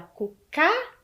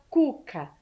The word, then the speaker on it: Cuca: cucá a gente fala cucá ou a gente fala Cuca Qual é a sílaba mais forte é a primeira né então o assento no k está errado correto todo mundo acertou